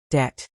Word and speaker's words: debt: Night, psychology, debt, receipt. Great. Notice the silent letters in these words.